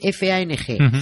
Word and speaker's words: Fang: Se escribe F-A-N-G, Fang.